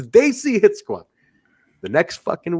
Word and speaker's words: Desi: And then I started correcting the pronunciation of the word Daisy, not Desi, not DC. I said it's Daisy.